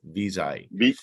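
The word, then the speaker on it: Viz.ai: uh Google it visa that's how they call it visa how do you spell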